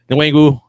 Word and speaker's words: Nwangwu: I'm not even going to try to how to pronounce his name. Kenny Nwangwu? Yeah, Nwangwu.